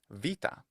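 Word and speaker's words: βήτα: Now, Greek also had the change of the letter beta into, in modern Greek, it's pronounced vita.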